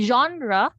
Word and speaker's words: genre: way for your sound your g here makes your jaw sound so that's why we make use of the symbol your e here your ah genre and your n stays the same sound with your r er and genre your e here produces the schwa sound or the sound pero and stress since when we say genre genre genre so the stress is on the first syllable